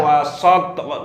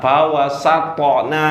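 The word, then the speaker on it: فَوَسَطْنَ: Fawasatona. Bukan so, sa. Fawasatona.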